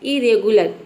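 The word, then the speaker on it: irregular: मतलब होता है चिढ़ाना नेक्स्ट है इरेगुलर यहां प भी देखिए आई को आई के बाद आ है लेकिन हम आई के बाद अगर आर आ रहा है तो हम अ नहीं प्रोनाउंस कर रहे क्या प्रोनाउंस कर रहे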